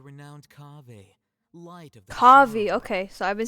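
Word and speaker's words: Kaveh: You're the renowned Kaeya, light of the Kavi. sun. Okay, so I've been saying his name wrong.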